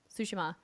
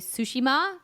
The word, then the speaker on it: Tsushima: read that they say Tsushima yeah first yeah Tsushima yeah and like typically for the Japanese like the first syllable is the one you accent right mm-hmm yeah I did